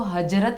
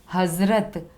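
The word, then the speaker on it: हज़रत: ज, जिसका pronounce English में जेड से किया जाता है। हजरत, ह ज, इसको हजरत नहीं बोलते हैं, क्या बोलेंगे, ज, हजरत।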